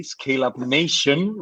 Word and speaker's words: ScaleUp Nation: She's a research director at, I have to say it correctly, ScaleUp Nation, without an S yet.